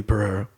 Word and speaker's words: Perreira: to check out Pereira Pereira calm better you know if you're Hispanic or Portuguese I can roll your R's which I am so